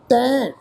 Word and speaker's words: तैं: तैं, हुण पाठ है जी तैं, तत्ते अखर के उपर दुलावां का पाठ है। असी नाल बिंदी ला के नासकी प्रनाउंस करांगे।